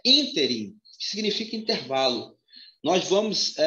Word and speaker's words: ínterim: E essa palavra, a pronúncia é ínterim, que significa intervalo.